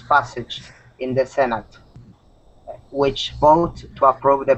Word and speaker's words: Senate: the senate or the Senate oh okay this word is pronounced senate senate there you go Senate think of it like um sen it so like seen and